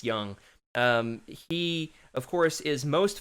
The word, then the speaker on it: Jung: It's Tom Young with a J. At least I think that's how it's pronounced instead of Jung. I think it's Young.